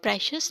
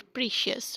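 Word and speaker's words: precious: This word is प्रेशस नॉट प्रीशियस। Okay, इसको आप प्रीशियस अगर पढ़ेंगे that is wrong pronunciation. Next is, वो मुझे नारजामंद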